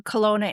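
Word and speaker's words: Kelowna: So a lot of flights will go to Seattle and up or spell Colona because it's not spelled like we think it's spelled. It's K E L O W N A.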